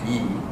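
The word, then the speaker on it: 이: But more proper way to say is E.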